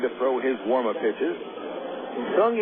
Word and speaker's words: Seung: Sung in the name is spelled S-E-U-N-G.